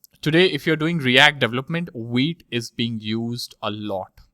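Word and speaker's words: Vite: see more about wheat you can see how it's pronounced it's pronounced as wheat okay and uh you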